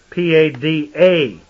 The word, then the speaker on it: Pada: They say Pada, P-A-D-A, and that's pronounced Pada, a prime root meaning to retrieve or deliver.